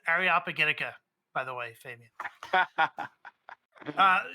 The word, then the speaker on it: Areopagitica: you by the way it did it took me 20 years to figure out that the way you pronounce it is areopagitica by the way Fabian